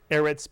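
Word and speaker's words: אֶרֶץ: word Eretz Mitsui Yan Eretz begins with a sigil therefore the accent is on the first syllable yeah Eretz Eretz means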